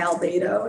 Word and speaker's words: albedo: The other thing around the the high albedo, is that how you say it? Albedo, yes. Albedo, great.